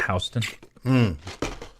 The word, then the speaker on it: Houston: a Houston Street in New York but they pronounce it hon weird people up there Planet hon especially Jamie